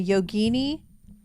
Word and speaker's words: yogini: the yogini.